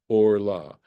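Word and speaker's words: ערלה: who has a forkin notice I'm pronouncing this Orla it's a similar situation here but there's no met so that's this becomes a kamat it's the name of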